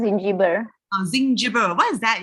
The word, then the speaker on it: Zingiber: It's pronounced Zingiber.